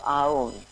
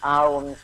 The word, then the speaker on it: Aum: And as we do this, let's use the universal mantra of Aum. And Aum has actually 3 syllables, which means creation, maintaining that which is positive, and destruction of that which doesn't serve us, the imperfections.